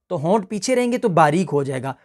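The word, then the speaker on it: ظا: पहले तो इस पर आप देख लें कि ये ज़ौ अलिफ और ज़ौ और अलिफ के साथ ये प्रोनाउंस होता है, ठीक है। ज़ौ और अलिफ के साथ इसको हमने पढ़ना, इसमें भी वाउ इंक्लूड नहीं करना, वाउ नहीं है।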